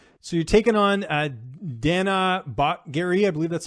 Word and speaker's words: Batgerel: So you're taking on Danaa Batgerel, I believe that's how you say it. What do you know about him? How do you feel like you match up against him in this fight? Yeah, Batgerel.